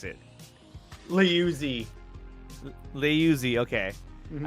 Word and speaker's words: Liuzzi: Liuzzi. Liuzzi, okay. Mm-hmm. I didn't know if it was like Louisi, and I was like, no, that's not right, dude.